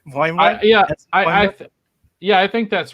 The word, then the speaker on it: Boimler: But he said it's pronounced Boimler. Am I even pronouncing it right after Donnie gave us the pronunciation? Boimler?